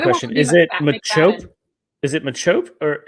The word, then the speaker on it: Machop: is it macho or is it machop because i always want to call him the pokemon the chop right like i just it's shelled the same okay it is spelled the same um i have that pokemon card um i have it holographic oh yeah look at me first edition baby um but no i think it's machope because whenever i've heard